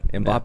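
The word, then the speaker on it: Mbappé: Is that how you pronounce his name? Yeah. Mbappe.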